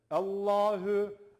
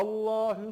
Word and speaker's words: Allah: tanesi arkadaşlar saydıklarımızın dışında lafzatullah Tan önceki harfin harekesi Üstün veya ötürü ise lafzatullah anlamı ince olmasına rağmen kalın okunur dedik Burada da aynı şey geçerli Allah'ı Allahu Allah var diyor